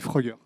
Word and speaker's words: Fruggr: Alors, c'est pas facile à lire, mais ça se prononce assez facilement, on dit Frugger.